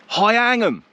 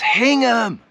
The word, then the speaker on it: Hingham: People in towns like Wymandham, it's Windham. Hyangham, it's Hingham.